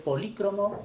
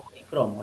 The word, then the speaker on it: policromo: Sí, esa palabra sí es de dos formas de escritura. Puede ser polícromo o policromo. Las dos formas son correctas en ese caso.